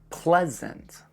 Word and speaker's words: pleasant: E-A in this word just makes the sound eh. Pleasant. Pleasant. And the letter A at the end makes the exact same sound. So think of it like P-L-E-S-E-N-T. Pleasant.